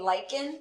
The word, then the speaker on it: lichen: So on the top left, you see this is called a lichen. That's how that's pronounced.